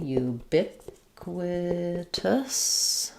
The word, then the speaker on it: ubiquitous: Um so ubiquitous. Um we have second syllable stress here. This is an unusual um word in that the letter u at the start says says a y and a oo sound.